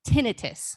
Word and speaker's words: tinnitus: correct pronunciation is actually tinnitus because itis is an inflammation and there is no inflammation that causes this ringing in your ears all right something